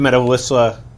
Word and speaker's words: Medawisla: Now, if somebody wanted to go up to Medawisla, did I pronounce that right?